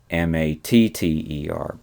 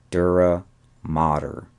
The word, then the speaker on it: dura mater: And the pronunciation is not matter, but it's mater. Dura Mater. And this is the outermost covering of the brain, and again, part of the spinal cord. Dura Mater, the outermost layer of meninges, the outermost cover.